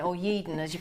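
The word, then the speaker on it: Yeadon: many times when I go to Yorkshire particularly yeda or yeden as you pronounce it people say you're Australian I'm fromy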